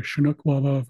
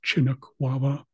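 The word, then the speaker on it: Chinuk Wawa: might hear different pronunciations you might hear shinuk wava versus chinuk wava either way it refers to the same thing which is the shinuk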